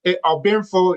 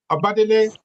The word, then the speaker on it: Obadele: Pronunciation of my name, Obinfo, you're good with that, but it's Obadele. So if you look at it's a Yoruba name, but most people in the U.S.